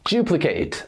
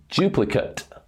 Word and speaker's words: duplicate: the pronunciation is a duplicate associate alternate activate create animate debate and accelerate as a verb we pronounce ate like the number eight however when we are